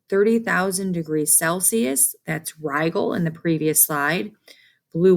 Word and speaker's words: Rigel: color and here's another popular very hot star pronounced rigal and that is found in the constellation orion